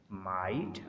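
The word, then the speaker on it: might: Thought, throw, लाइट, माइट। अब यहाँ पर देखें लाइट और माइट में टी आ रहा है एंड पर तो इसलिए जी एच प्रोनाउंस नहीं होगा।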